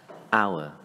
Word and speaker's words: hour: Từ này bắt đầu bằng chữ H, tuy nhiên chúng ta sẽ lược chữ H đi và chỉ đọc là hour.